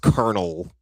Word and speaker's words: colonel: I used to say it like that when I was a kid, but when I got older I learned it's pronounced colonel.